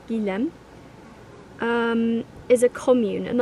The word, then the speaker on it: Guilhem: says sangilem le desai i was pronouncing it je lem before but i think it's gilem um is a commune